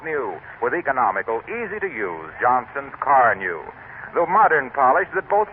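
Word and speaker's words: Carnu: Ask for Johnson's Car New at your regular wax dealer, auto supply store, or service station. It's spelled C-A-R-N-U.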